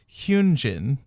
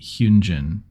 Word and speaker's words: Hyunjin: And Hyunjin is what we would Hyunjin with like a ooh sound.